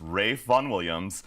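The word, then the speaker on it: Ralph Vaughan Williams: his name Ralph but it's actually a British pronunciation so it's Ray Von Williams Oh I would have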